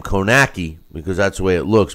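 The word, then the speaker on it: Kownacki: uh pronouncing the name konaki because that's way it looks but it's that everyone else has been pronouncing it konaski uh like there's an s in there but there's not but uh Adam Kowski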